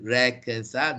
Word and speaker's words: reconcile: Okay, so here this is reconcile, not reconcile.